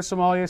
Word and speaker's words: sommelier: You can look us up on Facebook under Sommelier Service and find us through there.